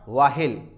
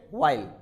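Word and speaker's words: while: Examples आप देख सकते हैं, what, व्हेन, व्हाइल, नॉट वाहिल, इट्स ए व्हाइल।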